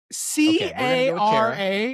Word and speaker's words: Cara: In France, no, it's a C. C-A-R-A is a Cara. That's a hard C sound.